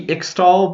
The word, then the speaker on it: Ixtal: I believe it's pronounced Ishtal, like the X being pronounced like an SH, but I could be wrong. Could just be Ixtal, but I think it's supposed to be pronounced Ishtal.